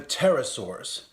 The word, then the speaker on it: pterosaurs: Mesozoic period where the pterosaurs a whole order of animals with broad wings and creative pronunciation for the letter P the Pteranodon had a